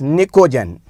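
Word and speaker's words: pnictogen: this group known as niccogen what nicogen what's the name p is silent over here niccogen most of the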